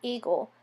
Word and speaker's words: eagle: Just like the A in the word eagle, this last letter is important for the grapheme of the word, but is not phonetically pronounced.